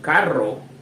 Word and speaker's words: carro: They have different meanings and different pronunciations. So just remember, with just one letter, caro means expensive. The second one, carro, means car.